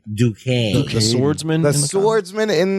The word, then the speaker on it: Duquesne: talk about jack duquesne to kezny but it's pronounced duquesne duquesne the swordsman the swordsman in the comics his